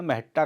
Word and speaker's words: Mahatta: बताया कि स्टूडियो में आए ब्रिटिश पर्यटकों ने मेहता का गलत उच्चारण मट्टा कर दिया अंततः मट्टा भारत में फोटोग्राफी का ब्रांड नाम बन गया मैं यहां 1972 में